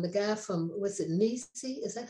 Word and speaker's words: NiSi: And even the people from, the guy from, was it Nisi? Is that how you pronounce it?